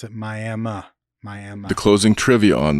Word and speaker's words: Miami: Miami, Oklahoma, if you're there, make sure you pronounce it Miami.